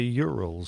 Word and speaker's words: Ural: airline planned that the Urals so you're always say Ural okay so Urals are like like a certain mountain range oh okay Urals kind